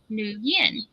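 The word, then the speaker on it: Nguyen: that last name and they pronounced it new Yin so I guess it's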